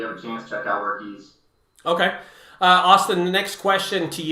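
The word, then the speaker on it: Workiz: Griffin's Junk Removal says, Workits is awesome. So thanks to Austin for that. Great. That's just... Thank you. We I want to correct you real quick. Since we're live, everybody, it's pronounced Workies. Workies.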